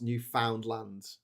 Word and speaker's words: Newfoundland: Argentia, not to be confused with Argentina, is a place in Newfoundland, and it's not pronounced Newfoundland in Canada.